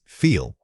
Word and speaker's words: feel: The word is feel. Say it again. Feel. The feeling of the air should be continuous when you extend this word.